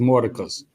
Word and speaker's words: Mordecai: month, the son, Mordecai, that's Mordecai, but it's pronounced Mordecus.